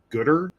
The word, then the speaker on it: Goodr: would recommend looking into a company called Gooder. It's spelled Goodr, and they kind of launched as a company making sunglasses for running.